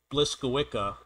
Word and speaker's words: Błyskawica: is the nc7 uh I happen to know for a fact that this is pronounced blissa you've got a four